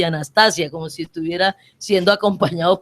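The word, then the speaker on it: ἀνάστασις: En otros programas le decían, resurrección es una palabra transliterada, pero en griego se pronuncia anastasia.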